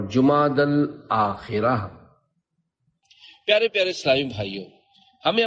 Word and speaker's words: جمادی الاخرہ: جبکہ یہاں تیسرا نہیں۔ لغت کے اعتبار سے ان دونوں مہینوں کے درست نام اور صحیح تلفظ یہ ہے، جمادی الاولی، جمادی الاخری اور جمادی الاخرہ۔ پیارے پیارے اسلامی بھائیوں،